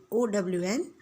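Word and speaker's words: -one: So, here we know that O and E is 1. But actually, the pronunciation which we will have to do is not 1, but it is O-N, O-W-N, own. Not O-N-E, 1.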